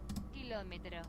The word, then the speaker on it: Kilómetro: Kilometro, Kilómetro. kilometro, Kilómetro. kilometro, and just like before, there is an accent on the O. That means we keep the stress on the O syllable, on the O vowel.